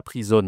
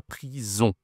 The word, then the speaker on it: prison: La prison, attention, la prononciation, c'est une nasale ici. On. C'est pas la prison, hein, c'est la prison.